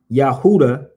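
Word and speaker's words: Yehuda: Yahuda, Y-E-H.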